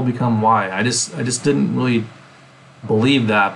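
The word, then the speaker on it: 이: So like the last name Lee, which is actually my Chinese last name Lee, is pronounced Yi or something like that in Korean.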